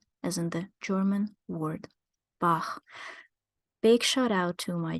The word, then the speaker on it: Bach: The closest we can get would be gh or kh, like in the German name Bach or Spanish name Juan.